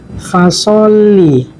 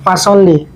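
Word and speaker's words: فَصَلِّ: Di ayat kedua teman-teman, fasolli, sama teman-teman, seperti ayat pertama ada tasdid, maka ditekan fasolli. Karena ada tasdid maka dia kan fasolli. Kalau tidak ada tasdid, fasolli, kan berubah maknanya.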